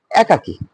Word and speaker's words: একাকী: একাকী, সংবৃত উচ্চারণ হবে, রাইট?